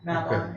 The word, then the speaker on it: Mabon: It's actually not pronounced Mavon either. Yeah, really? I didn't even know that one. Snapchat, Mabon. It's Babon, yeah. Mabon, and it's taken from the Welsh god Mabon.